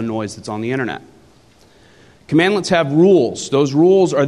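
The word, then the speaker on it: cmdlet: today is called a commandlet it's literally pronounced commandlet and that is spelled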